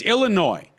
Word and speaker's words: Illinois: for illinoisans where and it's for everybody it's Illinois Illinois Illinois no noise nois no no there's